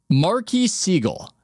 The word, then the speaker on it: Marquis Siegel: Marquis Siegel. Is that the correct way to pronounce his name? Just off the bat. Yes. That's the correct way.